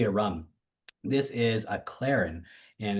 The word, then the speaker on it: Clairin: It's uh the word Claren. Uh well, it's it's like C C L A I R I N, but it's also spelled like with a K and it and it's a reference to Haitian Creole for clear uh or clear Claron.